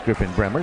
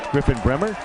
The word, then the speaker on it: Griffin Bremer: Jim Bransfield is pronouncing Griffin Bremer as Griffin Bremer, so we'll go with that because Jim has been doing this for a long, long time.